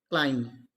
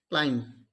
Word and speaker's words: climb: and next is climb when there is m b in the end of a word then b is always silent so it is silent here we produce the sound of climb now we pronounce it